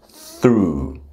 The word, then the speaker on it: through: Like we have the verb to throw as in to throw something but it's the past tense is I threw.